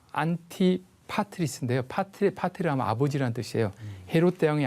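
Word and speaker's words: Antipatris: 안디바드리라는 것은 이게 그대로 발음하면 안티파트리스인데요.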